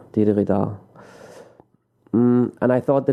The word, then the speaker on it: didgeridoo: And Didgeridoo, that's how you pronounce it. Didgeridoo. Didgeridoo.